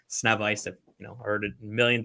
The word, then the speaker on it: Sznewajs: Yes, it is pronounced Sznewajs.